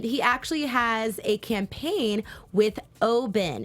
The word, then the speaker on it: Oban: It's spelled Oban, but it's pronounced Oben, and it shows you right there.